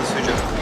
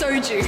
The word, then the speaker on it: soju: the beer or the Suzhou? What did you call it? Suzhou? It's soju. Oh, Suzhou. No, soju. Suzhou. I'm trying apple now. Soju, not Suzhou. Suzhou is a city in China.